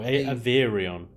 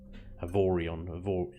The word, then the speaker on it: Avorion: Oh, Averion. Averion. Is that how you pronounce it? Okay, Averion. Yeah. Well, I don't know how you pronounce it, but that's how I know it. Avorion.